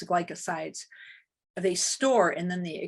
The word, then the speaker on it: glycoside: out of the plant the gly glycosoids i think that's how you say it oh it's glycosides they store and then